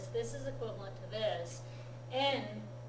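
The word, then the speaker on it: 円: En is the pronunciation of this, okay? I understand that. The yen pronunciation is Western mispronunciation, basically.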